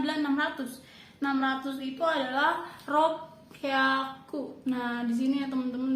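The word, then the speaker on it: ろっぴゃく: 600 itu adalah ropyaku.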